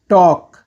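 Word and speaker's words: talk: बात करना, टॉक, टॉक। टॉक में एल साइलेंट होता है।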